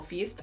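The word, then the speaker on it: Feist: For me I bring Raymond Fiest I bring or feast. I never know how to pronounce fiest or fiest. Feast.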